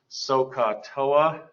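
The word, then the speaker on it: SOHCAHTOA: the ratios in the corresponding sides this is pronounced socatoa so sine is the opposite over the hypotenuse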